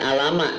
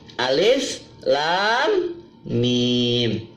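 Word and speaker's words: الم: boleh dibaca alamat hutan bacanya bukan alamat tapi alis Lam Mim chock yang pertama contoh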